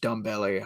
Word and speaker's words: Ndombele: I think it's supposed to be pronounced Dumbele, but I can't get out of the habit of saying Ndombele. But I don't put him